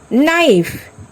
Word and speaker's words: knife: Knock, knee, not, knife, knowledge, no. In every word, K is silent here.